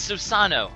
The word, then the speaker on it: Susanoo: He's Susanoo.